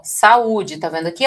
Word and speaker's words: saúde: Então, olha só, o encontro de duas vogais em sílabas separadas, tá, vai ser chamado aqui justamente de ato. É o caso da palavra saúde que vai fazer assim, ó. Vamos fazer a separaçãozinha aqui, ó. Sá, né? Ó, sá, olha o a ficando numa sílaba.